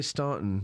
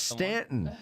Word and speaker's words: Staunton: it looks like no it's Stanton don't you dare say Staunton it's s-t-a-u right stunt it's Stanton that's I I thought they pronounced it they pronounce it Stanton yeah well they're I